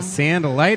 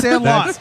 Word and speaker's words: Sandlot: Is it Sandalite or Sandalot? It's Sandlot.